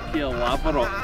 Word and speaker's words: Caerlaverock: Caerlaverock. Caerlaverock. Caerlaverock Castle. You know I'm bad at pronouncing names.